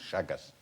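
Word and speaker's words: Chagas: H no that's a good question how you spell it's actually spelled c h a g a s shagus.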